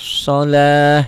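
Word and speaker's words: الصلاة: Alladzina yu'minuna bil ghaibi wa yuqimunas shalah. Ini tamar butoh, jika dihentikan bunyinya jadi ha. Jangan wa yuqimunas shalat ya, T-nya jadi ha. Itu namanya ta marbutoh. Ta marbutoh ya. Apabila dihentikan bunyinya berubah menjadi ha.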